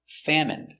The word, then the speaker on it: famine: more than one genuine famine remember it's countable a famine famine and Jasmine so all of these words are pronounced with the in sound for the in turbine